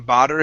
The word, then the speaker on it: bother: first up bother okay give me a good th instead of saying bother him okay so it didn't